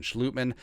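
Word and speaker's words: Schlottmann: Yeah, Chris Reed and Austin Schlutman, the Dutch pronunciation.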